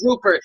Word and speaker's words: Rupert: That's my character's name is Mother Rupert. And if you ain't pronouncing the T, you ain't speaking to me.